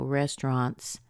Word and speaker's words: restaurant: of other languages but you have this spelling of a u right and you're probably wondering how to pronounce that spelling well guess what you don't you don't pronounce it at all it's one of these weird words where certain sounds are just squeezed out they're gone so you end up with